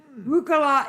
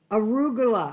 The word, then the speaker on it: arugula: joining care take come again rugula is very bitter kind of salad it's arugala arugula arug a r u g u l a you people over in